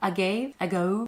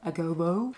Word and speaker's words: agave: Agave? Agobo? Google it. You have Google it. Wait, can we put that in? Like, agave syrup. That's how to say it.